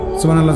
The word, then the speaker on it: সুবহানাল্লাহ: বা এটা কলকলার হরফ, সুব বা এটা কলকলা করতে, হা এটা হলকের মধ্যখান থেকে উচ্চারিত হইতে হবে।